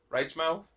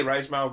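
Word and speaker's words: Reichmauth: a u t h it's like German I say right mouth bro ain't nobody correcting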